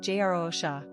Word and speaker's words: Jerusha: Pronunciation, Jerusha.